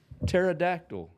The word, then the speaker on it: pterodactyl: don't understand the silent the silent letter pterodactyl pterodactyl yeah starts with a P why who who's think this